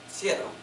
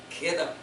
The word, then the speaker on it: Kittim: I pronounced it chittim. But guess what? It's kittim.